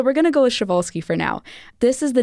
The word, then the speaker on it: Przewalski: but it is pronounced sholi or proli a lot of people will put a p in the front and I'm not quite